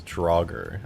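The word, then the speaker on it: Draugr: chokest oh okay gotcha drauger is that how you say it drawer Kroger stronger okay so that is how you say that's so weird I don't know if I like that it's drauger that's just such a strange way to say it Zachary thank you for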